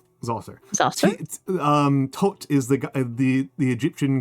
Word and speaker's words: Djoser: I always pronounce it Djoser. Zoser. Zoser.